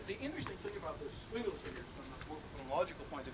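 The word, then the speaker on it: Swingle Singers: is pronounced hard, and the G in Singer is pronounced soft, right? I mean, I don't speak this dialect very well, and I have a tin ear, which is why I did philosophy rather than phonology. But I'm told it goes Swingelsingers, okay, is that about right?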